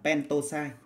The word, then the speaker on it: pentoxide: Tương tự thế, penta thì ta bỏ nguyên âm A đi thì ta đọc là pentoxide.